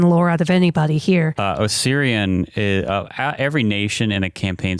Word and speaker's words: Osirian: And out of all the ones in Galarian, Osirian is like... I thought it was just Osiria. It is Osirian. Mm-hmm. Huh. Yeah, it is Osirian. It's like O-N is how it's spelled.